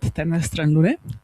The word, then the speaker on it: Temna stran Lune: And together we've been creating a podcast called Temna stran Lune, perfect pronunciation, in Slovenian language.